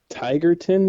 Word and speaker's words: Tigerton: Falls where okay so tigerton is how it's yep just and it's spelled just like it sounds it's kind of by